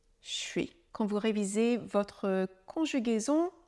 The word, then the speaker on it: je suis: déjà entendu et remarquz c'est donc un son qui est un peu difficile à déchiffrer je suis je suis quand vous révisez votre